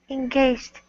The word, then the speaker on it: engaged: This is just two syllables. Engaged. Engaged. Yeah, that's better.